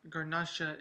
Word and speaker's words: Garnacha: But tonight I am doing a Spanish wine, Pallas, 100% Garnacha, which is basically Grenache as they call it in France, but Garnacha is how they say it in Spain.